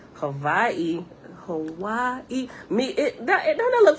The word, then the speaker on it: Hawaii: What I'm understanding now by being here and actually listening to the native people, just like Hawaii, pronouncing Hawaii, that is wrong.